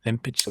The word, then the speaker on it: Lempicka: Lempicka Very good. That's it. You and I we're going to pioneer proper pronunciation of Lempicka.